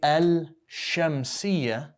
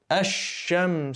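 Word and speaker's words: الشمس: fetha we didn't say el shem we said ash go straight from the alif to the next letter skip the lamb okay hashem see and on the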